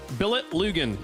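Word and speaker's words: Billetlugen.dk: can head over to Billetlun.dk, I believe is how I'm being told that is pronounced. Billet Lugan, if you're just wanting to pronounce it phonetically there for people that speak the same language I do here, folks.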